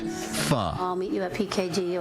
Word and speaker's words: pho: pretty much says it all, as long as you know Vietnamese noodle soup is pronounced pho.